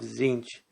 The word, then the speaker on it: Tzeentch: And today we're looking at the Maze of Tzeentch. I'm going to be pronouncing that way because both T's are silent.